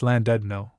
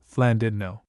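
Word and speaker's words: Llandudno: I the English simply and frankly after their blunt nature call the place Landno but the Welsh call it according to one superstition of their double L and their French u Flandidno.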